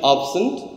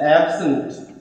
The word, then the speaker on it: absent: is pronounced as noun it is pronounced as absent we put stress over here the pronunciation is absent but when it is the same word becomes absent so we have two distinct pronunciation but the orthography is the same this is we have